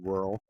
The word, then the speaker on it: rural: Yeah, like it rhymes with curl.